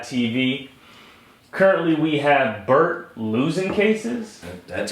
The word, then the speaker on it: Luzincases: episode of GLAAD TV currently we have Bert losing cases that's how you pronounce it losing cases losing cases Esquire or it's just losing